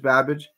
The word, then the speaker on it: Babic: babage Savage Babbage Babbage right Babbage The Savage Babbage that's how you pronounce that he's 33 years old he's 12